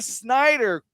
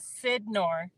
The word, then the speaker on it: Sidnor: Ladies and gentlemen, my battle buddy, Jennifer Snyder, Corman, right? Yeah, and it's, Yeah. the last name is Sidnor. Sid.